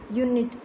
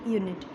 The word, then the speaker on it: unit: ही है, जैसे कि UNITE यूनाइट, UNIT यूनिट। अब देखो बच्चों इसमें ई आया है और इसमें ई नहीं है, सिर्फ यही अंतर है, लेकिन दोनों में कितना बड़ा इनका उच्चारण में विभिन्नता आई है या डिफरेंस आया है। UNITE यूनाइट और UNIT यूनिट। USEFUL यूज़फुल, यहाँ पर भी